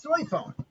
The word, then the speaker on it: Soifon: shinigami uh captain questionagami in my opinion is soy phone and that's really her name and the japanese